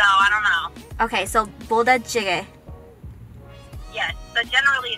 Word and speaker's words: 부대찌개: 부대찌개.